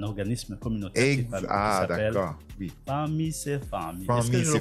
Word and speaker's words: Fanmi se fanmi: Famille c'est famille. Est-ce que je le prononce bien famille ? Famille c'est famille.